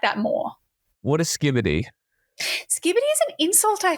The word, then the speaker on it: Skibidi: Yeah, no, it just Skibidi, pronounced like skippity, has no inherent meaning.